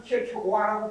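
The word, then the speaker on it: Kierkegaard: 대로 저기서 얘기한 대로 킬케가르 그 다음에 하이데거 원래 요거 원어는 킬케고아라고 발음해요.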